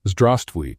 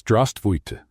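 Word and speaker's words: здравствуйте: "No, it's not zdravstvуй, it's zdravstvуйте, with an E at the end."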